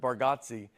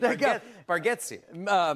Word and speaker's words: Bargatze: I told you, I think you say our last name correct with Bargatze, and I think we say it wrong as a family.